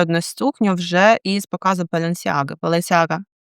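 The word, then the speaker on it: Balenciaga: Беленсяга, до речі, мені Іра сказала, що правильно вона має вимовлятися Баланчага, але якщо я буду вам так казати, то ви просто не зрозумієте, про що я, напевно.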